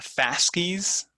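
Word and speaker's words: fasces: authority their symbol the fascist um i haven't taken latin in a long time but i believe that's how the word is pronounced in latin fascis f-a-s-c-e-s is a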